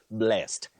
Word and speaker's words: blessed: Then your second word, as a past tense of the verb bless, you say blessed. He was blessed this morning. But when you use that word as an adjective, you say blessed, just like have a blessed day, not have a blessed day.